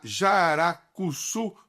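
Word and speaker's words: jararacuçu: e ela estuda uma espécie de jararaca, a jaracuçu, pronunciei correto, Eletra, é isso mesmo?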